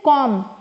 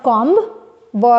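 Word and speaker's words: comb: you should learn it so after M बी इज not pronounced ठीक है ना याद रखेंगे इसको सो इट इज कॉम इट्स नॉट कॉम ब इज नॉट प्रोनाउंस कॉम जो व कॉम are here and नाउ इट्स नॉट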